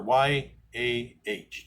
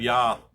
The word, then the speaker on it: Yah: And Yah said to me, and I use the name Yah, W or Y-A-H, Yah. The King James will have Yah. It's J-A-H one time in the King James, but it's pronounced Yah.